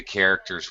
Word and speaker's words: character: Both the CH in the beginning and the C have a K sound.